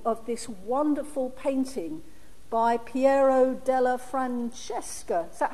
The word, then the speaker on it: Piero della Francesca: Now, you should all have been given a copy of this wonderful painting by Piero della Francesca. Is that how you pronounce it, Gilly?